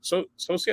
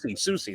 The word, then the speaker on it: Soucy: It's Soucy. Soucy, that's it.